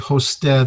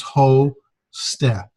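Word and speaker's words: ὥστε: And here's a word, hosted, the last word of the vocabulary. We've got the rough breathing, so it's got the long O sound with an H in front of it, so it's ho-ste.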